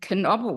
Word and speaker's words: Knoble: So she said, but we pronounce our name Knoble with the K.